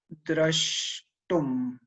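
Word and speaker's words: draṣṭum: No, actually, that was also, does it go as drashtum? Yes, exactly. Drash.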